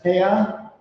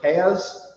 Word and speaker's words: peah: the Mishnah known as Peah. Peah is referring to the corners of the field. So like if you've ever met someone who wears payas, that's like an Ashkenazic pronunciation of like the word peah, because there's the corner of your hair.